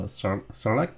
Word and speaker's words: Sarlacc: Because after he went into the Sarlacc pit.